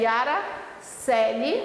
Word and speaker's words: Coeli: Tem lá o cursos da professora Yara Celi, a pronúncia é Yara Celi, mas a escrita é Yara Coeli.